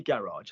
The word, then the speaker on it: garage: Give me the noise that the first G makes. Ga. And what does the last G make? Je.